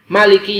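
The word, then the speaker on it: مالك: Dari cara bacanya Maliki Yaumiddin itu sebagian ulama juga membolehkan membaca dengan Maliki Yaumiddin dengan mim yang pendek. Keduanya adalah benar, ya.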